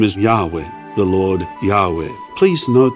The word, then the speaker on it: Yahweh: name yes obviously so scholars prefer yahweh instead of jehovah yahweh a more accurate pronunciation the sovereign of the